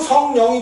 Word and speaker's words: 성령: 근데 성영이 되지 않고 성령이 된 것은 뭐야? 두음법칙. 그래서 성영이라고 읽지 않고 성령으로 읽는 거야.